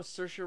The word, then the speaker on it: Saoirse: Oh, Saoirse Ronan. You know who Saoirse Ronan is?